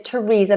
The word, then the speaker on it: Theresa: tongue comes out but on a few occasions usually with names the th becomes a t like the River Thames for example or the name Thomas or Theresa so I'm here I